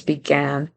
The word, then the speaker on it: began: to Tire his vow in the word began it sounds like begin it sound like an a short I instead of a short a so he needs to make sure it's began began to Tire past